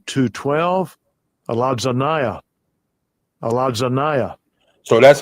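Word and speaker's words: ἀλαζονεία: Strong's G 212, Aladzanaya.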